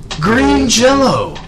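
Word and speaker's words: Green Jellÿ: hybrid comedy metal band Green Jello spelled jelly but pronounced Jello because of a weird lawsuit but yes they actually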